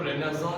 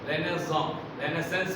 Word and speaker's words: Renaissance: Queen Elizabeth का period है, इस पीरियड को रेनेसां कहते हैं. रेनेसेंस भी कुछ पढ़ते हैं, तलफ़ुज़ वो भी सही है लेकिन अमेरिकन प्रोनाउंसिएशन.